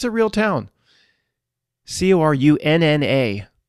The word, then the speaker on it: Corunna: Corunna, pronounced just like the same thing, Ontario.